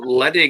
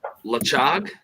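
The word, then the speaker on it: Ledaig: So Ledig is pronounced Lachog.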